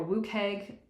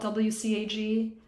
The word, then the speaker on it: WCAG: web accessibility content guidelines pronounced wcag or woo keg are considered the international standards for web accessibility the this is also what section 508 accepts as their standard and a brief history about wcag version 1.0 was released in May of 1999.